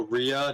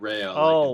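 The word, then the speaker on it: Rhea: up this duel it's also Ria not Rea like Ria oh Ria okay yeah that's always been a funny name to pronounce r h e a because both are like holy ways you can pronounce it whether you want to pronounce it r or Rea and it's not like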